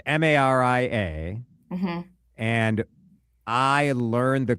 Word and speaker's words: Maria: So You have to see how it's spelled. it's Maria, Hmm.